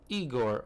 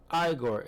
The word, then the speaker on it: Igor: Marty Feldman as Eigor or Igore as he pronounced it.